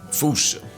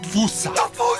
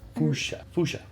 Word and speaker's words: fossa: say it is Foosh, Foosha, Foosha. Like Foosh, with a performance anxiety at the end.